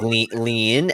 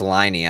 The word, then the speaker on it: Liney: I was like lean, and then she's like it's Liney. I was like Liney. Her name was Liney.